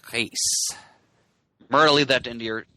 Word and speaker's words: Reis: Well, it's Brazilian Portuguese, so the R often comes out sounding a little bit more like an H, so like Reis.